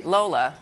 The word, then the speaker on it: Lola: It's called Arise Entertainment 360, and we are joined by Layla Ogunnaike. Did I say it correctly? Lola.